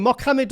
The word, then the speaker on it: Mohammed: Mohammed or Mohamed?